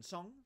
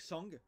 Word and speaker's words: sống: And bạn sống. Okay, this is not like song, not like a song, but Sống.